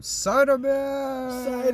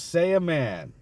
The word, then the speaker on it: Saiyaman: he called him Cyberman. Cyberman! No, it was Saiyaman.